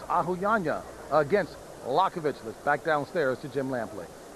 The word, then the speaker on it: Liakhovich: against sergey yakovich and we're just going to pronounce it lakovich because his manager asked us to just stick with lokovic you can see that